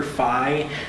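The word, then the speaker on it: Fein: F-E-I-N. Yeah. You wouldn't think you pronounce it that way, but it's actually Fye.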